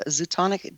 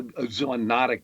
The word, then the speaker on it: zoonotic: What is, you talked about it a little bit earlier, but what's a zoonotic disease? What kind of disease? I'm trying to pronounce the word.